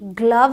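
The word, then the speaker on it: glove: नहीं है कम है जी एल ओ वी ई ग्लव है तो ये एक्सेप्शन हैं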